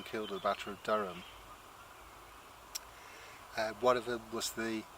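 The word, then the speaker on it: Dyrham: They say Bristolians pronounce it Durham, but it's spelled with a Y, which is natural in this area for a Y to come out as a U.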